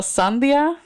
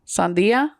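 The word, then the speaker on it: sandía: Oh, sandia. Did I use the accent on the right spot? No, the accent's like sandia.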